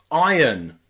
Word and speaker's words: iron: so you've got I Ireland Ireland and also iron iron what you use to iron clothes you've